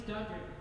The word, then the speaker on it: Dunder: Reindeer who don't respect me at all because my name is Dunder. It rhymes with blunder.